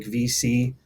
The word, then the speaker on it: VSee: with recording are going to be platforms like VC, and it's spelled VSEE, or Zoom.